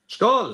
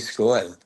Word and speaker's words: Skål: I know it's the Swedish, but the A is an O, right? It's Cheers. Skull. Cheers. Skål. Yeah. Skull. Charlie Skull. Charlie Skål.